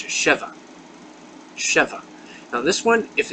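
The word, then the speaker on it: שווא: You can call it the same thing, schwa, except in Hebrew it's sheva.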